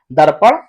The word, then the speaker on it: दर्पण: अब यहाँ पे देखिए, आपको पता है इस रेप की मात्रा का यहाँ पे जो उच्चारण होता है वो आधा र होता है।